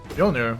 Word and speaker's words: Mjolnir: Mjolnir. I mean, Mjolnir makes a shit ton of sense. Akmen are just weird at, or like English is just weird at pronouncing the J properly.